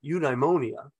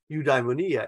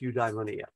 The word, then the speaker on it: eudaimonia: I always used to pronounce that eudaimonia. And then I have had a colleague, he passed away a number of years ago, but I had a colleague and he said, no, it's pronounced eudaimonia.